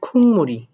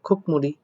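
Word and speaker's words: 국물: কি সুপ তারপর বলছে খুনমুড়ি এই খুনমুড়ি উচ্চারণটা কেন করলাম এটার উচ্চারণটা আসলে হওয়ার কথা খুকমুড়ি বাট এটার উচ্চারণ আমি করলাম কি খুনমুড়ি অর্থাৎ যেটার অর্থ হচ্ছে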